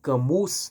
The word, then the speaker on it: Camus: O Albert Cam Cami ou Camus, né? Não importa do jeito que tu se pronuncie, né? Camin na língua nativa dele, Camu no nosso português brasileiro.